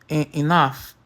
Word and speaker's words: enough: Enough, ele tem o som de f.